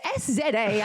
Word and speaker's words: SZA: or SZA or I don't know how you pronounced it. She's very Russian. Well, it's SZA.